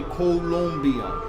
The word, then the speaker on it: Colombia: colia oh yes um they want you to pronounce colia yes or even with the spelling yeah that's why we make sure we say colia cuz it's c o l o m b i a yes if not Columbia